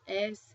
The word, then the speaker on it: ese: Then another a and then an ese which would be an s and I get Caracas.